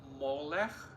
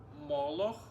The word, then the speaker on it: Moloch: We should mention about worshipping and practice to do sacrifices of children to God named Molech or Moloch or Molech, god of Ammonites. It also could be pronounced as a Malek.